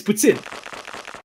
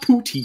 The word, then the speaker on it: poutine: that's sounds better it's Puttin it's literally pronounced puts in it sounds better it sounds funnier that way and also that's the right way it's not poutin literally America 90 90%